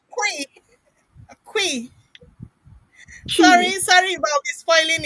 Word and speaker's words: Twi: pronunciation. It Twi. is tree. It is tree. Can you hear me? Okay, it's Quee.